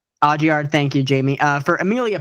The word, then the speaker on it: Audiard: It's a French last name. I don't know how to say it. But Audiard.